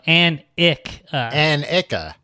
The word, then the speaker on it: Annika: Hello, my name is Annika. Annika? You're doing a great job so far, Tom. Well, it looks like Annika, but then it says pronounce An-ik-a. No, An-ik-a. An-ik-a. Annika.